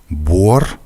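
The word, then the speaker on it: буор: Дифтонг «uo» напоминает русский гласный звук, произносимый в таких словах, как «бор», «кот», «мой», «сон», «тон». Однако, если в русском языке начальный звук — это краткий «у», то здесь он произносится как отчетливый «у».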